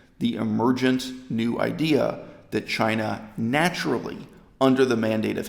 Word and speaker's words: Qin: here that the borders defining the whole of China changed from here though warring States Period we